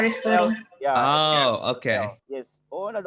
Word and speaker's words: Aristotle: Beda ya? In English pronunciation-nya Aristotle. Ya, oke. Yes. Oh, ada orang Inggris juga ya. Makasih ya. Ya, Aristoteles gitu.